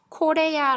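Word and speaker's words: Корея: 마치 영어 가치도 생기는데 영어가 아니라 코레아 라고 읽는다고 하네요 영어랑 품 비싼 감이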